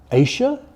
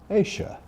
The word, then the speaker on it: Asia: Is it Asia or is it Asia? Well, I, again like most people of my age, say Asia, but younger people increasingly go for Asia.